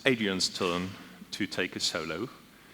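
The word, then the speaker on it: Adriano: We'll try to pronounce it as his parents would do, which would be Adrienne.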